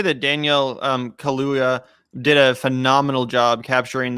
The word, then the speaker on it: Kaluuya: And especially the way that it was done by Daniel Kaluuya. Is that how you pronounce his name? Yeah, Daniel Kaluuya.